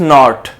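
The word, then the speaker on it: knot: Next आ रहा है हमारे पास नॉट, जिसको कहते हैं कि गिरा बांधना, नॉट, टाया नॉट, तो ये हमारे पास फिफ्थ है जिसमें हमने K को सर्कल करना है ताकि ये हमारा, क्योंकि ये साइलेंट लेटर है।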